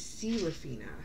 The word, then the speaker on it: Seraphina: I was saying main character's name wrong. So her name is Seraphina.